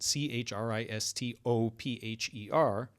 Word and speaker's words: Christopher: But do you notice that when you say Christopher, you don't really fully pronounce the O?